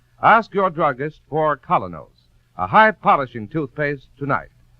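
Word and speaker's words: Kolynos: teeth isn't that correct we honestly believe that colos toothpaste will help clean and polish teeth more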